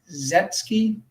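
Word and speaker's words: Székely: A man named Edmond Bordeaux, don't know how to pronounce his last name. It is Zetkli.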